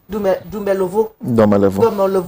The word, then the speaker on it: Domelevo: Domelevo, that's the right pronunciation.